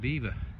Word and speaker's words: Belvoir: Belvoir from the Norman Norman French, but the locals can't pronounce it and they call it Beaver.